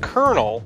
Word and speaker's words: colonel: user who explains if you know that it's pronounced Colonel it's easy to pronounce but if you are